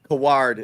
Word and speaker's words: Coward: Tough one, but Kaward, it's pronounced that would make sense. Knew he wouldn't be available for Bobby said there goes Kaward.